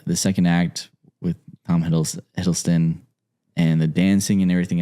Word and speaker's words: Hiddleston: Hiddleston, yeah.